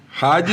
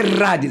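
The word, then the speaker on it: ᾍδης: Rades. Rades. Não é radis. Rads. Rades. É alfa. Aspiração áspera. Rades.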